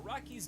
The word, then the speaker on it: Araki: years ago in which I hilariously mispronounced actual author hirohiko araki's name as ariyaki last mistake made I don't believe you sounds like Teriyaki as well anyway copyright nightmare as